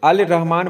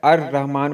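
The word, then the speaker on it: الرحمن: तो अलिफ लाम लगाएंगे तो क्या पढ़ेंगे, अल रहमान पढ़ेंगे या अर रहमान पढ़ेंगे। तो जाहिर सी बात है अर रहमान पढ़ेंगे, तो रे हरूफ शमसी है।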